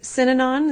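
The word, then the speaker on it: Synanon: a cult I guess uh pronounced sinon is that correct yes what happened there well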